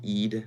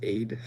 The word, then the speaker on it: Ide: Ide says, you pronounce my name as Eid, not Aid.